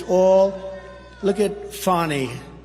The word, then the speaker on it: Fani: It's all Look at Fani, F A N I. It should be pronounced Fanny.